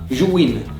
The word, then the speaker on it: Zhiyun: Finally it's here Zhiyun I found that the correct pronounce is JU WIN (similar to YOU WIN) Zhiyun Smooth X USB-C